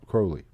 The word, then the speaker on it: Crowley: research for this episode i think we are wrong about his last name i think he pronounced the crow crowley well he's dead i